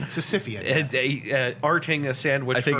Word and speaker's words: Sisyphean: Sisyphean. Sisyphean. Arting a sandwich I think forever up a hill. I think I added an extra syllable onto there.